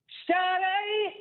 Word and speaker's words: Sade: How do you pronounce that woman's name? It's what is it? Sade. Sade, hey, yeah.